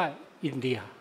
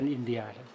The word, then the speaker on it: อินทา: ประเทศ ของ พระ อินท์ แต่ ว่า เขา เขียน ว่า อินทา แต่ เขมร ออก เสียง ว่า อินเดีย สระ อา เป็น สระเอีย นะ เหมือน เอ่อ ่อ เอ่อ อิน อิน อินทา เนี่ย เค้า ก็ ออก เป็น อินเดีย ลักษณะ อย่าง นี้ นะ ที นี้ จาก